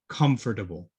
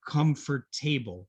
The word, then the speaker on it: comfortable: there mmm they're comfortable comfortable okay it's a little bit of a difficult word many students will say comfort table or comfort tableau but remember here we